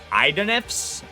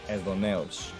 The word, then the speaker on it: Aidoneus: Okay, you guys would pronounce this Aidoneus. I pronounce this Aidoneus.